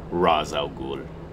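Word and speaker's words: Ra's al Ghul: through this I guess I'll just call him race since that's how they're going with the pronunciation but like I said I definitely when I am like discussing him on my own I say uh Raz algul alternating between dive bomb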